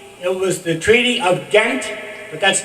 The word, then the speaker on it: Ghent: a peace treaty it was the Treaty of Ghent but that's not the way you pronounce is ta t NT I must do